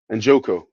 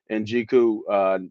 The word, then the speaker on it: Njoku: I gotta see it to pronounce it right. Njoko, Njoko, Njoku, has been playing really well.